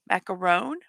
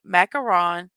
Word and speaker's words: macaron: Macaron? Because one O is macaron, two O's is macaroons.